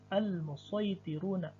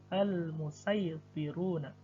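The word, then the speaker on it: الْمُصَيْطِرُونَ: Tertulis shad, dan cara membacanya bisa dua cara. Boleh shad, boleh sin. Namun dibaca dengan shad lebih baik. Contoh al-musaytiruna, atau boleh dengan sin al-musaytiruna.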